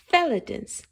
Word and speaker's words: Felatons: Seuss calls these as Felatons. They rhyme with skeleton.